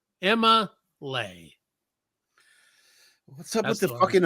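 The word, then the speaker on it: Emma'Leigh: Now you spell it E-M-M-A apostrophe L-E-I-G-H. Emma Lay.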